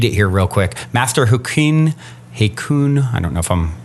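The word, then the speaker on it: Hakuin: actually just read it here real quick Master hin hun I don't know if I'm pronouncing it right h a k u i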